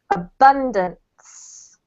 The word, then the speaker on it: abundance: The emphasis is on the second syllable, so it's abundance.